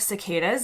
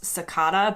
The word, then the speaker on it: cicada: The UK, on the other hand, does have cicadas, and actually in the UK it tends to pronounce cicada, but in the US we say cicada, they do have an